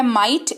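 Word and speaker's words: might: हैं अगला शब्द है माइट मी जीएसटी मिटे इसको पढ़ते हैं इसका मतलब होता है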